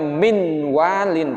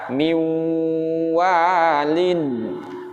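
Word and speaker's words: مِنْ وَلِيٍّ: tersebut kepada bunyi Wow Bukan dibaca Min waliyyin tapi dibaca Miu Wah Line niwa Line Hai Nah begitu nah pengertian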